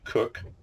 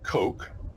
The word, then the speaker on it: Coke: a man named Edward cook in America we say Edward Coke because it's spelled Coke to us c k in England they call him cook but as I like